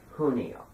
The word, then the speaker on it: junio: It's pronounced Junio. Whenever there's a J in at the beginning of a word, it has an H sound, and whenever there's a